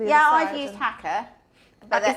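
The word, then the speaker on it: Haakaa: I've used Hacker. Is that how you pronounce it? Hacker.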